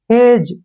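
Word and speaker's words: judge: है as next है एच ई डी जी ई ठीक है ना जी के बाद जी से पहले फिर डी आया है डी को छोड़ना है जज कैसे पढ़ेंगे इसको जज जैसे डब्लू ई डी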